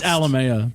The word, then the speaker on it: Alamia: We have Alamia. Return of the guest. It's Alamea, but No, close it's not. enough. No, it's Alamea.